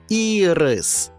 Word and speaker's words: ірис: обід колеса А це квітка ірис але якщо перенести наголос на другий склад отримаємо смачну цукерку і рис це збірка